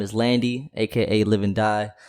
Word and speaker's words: LVNDIE: stuff man but once again my name is Landy AKA living die it's spelled LV n d i e you can